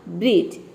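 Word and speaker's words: bridge: लेकिन यहाँ पे देखिए ड का साउंड कहीं पे भी नहीं है, मतलब कि D लेटर साइलेंट है। यहाँ पे हम IGE, ये हो गया आपका ईज। ठीक है, और BR हो गया ब्र, तो ये हो जाएगा आपका ब्रिज।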